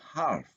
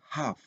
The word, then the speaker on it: half: Jadi bacanya bukan half, tapi half. Jadi huruf L di sana dianggap tidak ada.